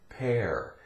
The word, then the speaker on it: pear: E-A-R spells ear, but if you put a P in front of it, it becomes air, and we say pear, as in the fruit.